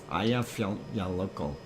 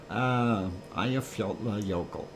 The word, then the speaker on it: Eyjafjallajökull: Eyjafjallajökull. If I said it, yokel. Eyjafjallajökull.